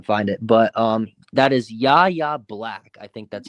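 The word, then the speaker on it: Yahya Black: It's like it took me a minute, but it's YA Black.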